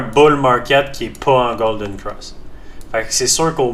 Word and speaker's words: golden cross: Il y a pas de T à fin. Avoir à fin, ça serait au passé. Mais en tout cas en anglais the lines have crust. On je dirais ça, je le prononcerai avec un t parce que ça sera au passé. Mais si je dis un golden cross, c'est juste Ross mais